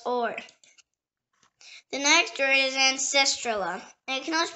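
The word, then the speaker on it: ancestrula: The next word is ancestrala. It can also pronounce ancestrala.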